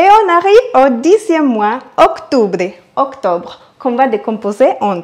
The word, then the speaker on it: octubre: Et on arrive au 10e mois, octubre, octobre, qu'on va décomposer en 3. Octubre. À savoir que le U en espagnol se prononce comme le OU en français.